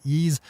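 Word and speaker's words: Eaze: can be had over at ease calm which is spelled EI ze big thanks to everyone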